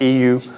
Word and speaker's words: Yiwu: This little city called Yiwu. It's also pronounced EU, like the like European Union, EU.